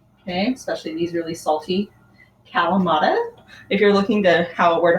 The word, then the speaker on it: Kalamata: Okay, especially these really salty Kalamata. If you're looking to where to find them, they're spelled with K, K-A-L-A-M-A-T-A.